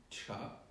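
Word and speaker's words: 茶: Là, c'est le caractère du thé qui se lit cha.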